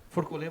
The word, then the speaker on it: Forcolen: eu era spolier e a pronúncia del dele verdadeiro é forcol forcol forcol pô mas é legal